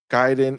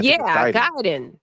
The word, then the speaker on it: Gaiden: Shadow drop today so gyen JR says no Guiden is wrong okay so write it out for